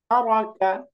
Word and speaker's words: ترك: তারা, তারা, মা, মা, مع লাকা, লাকা, لك তারাকা, ترك তারাকা। এই যে আমরা অনেক সময় তারাকা বা তারাকা এরকম টানে টেনে পড়ি, ترك কোনটাই টান হবে না।